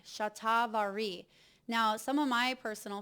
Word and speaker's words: Shatavari: I just want to make sure I'm pronouncing these correctly for you. Macaroot, ashwagandha, and chat vari. Shatavari.